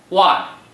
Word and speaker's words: 万: Wan is the 4th tone. Please pronounce it after me. Wan.